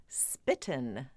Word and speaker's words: spitten: Well, before the word before the term spitting image existed, the expression was the original was spitten image like rhymes with mitten.